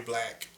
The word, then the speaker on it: Blvxq: And on there you can actually get to my art page also, which is Black, and it's spelled BLVXQ.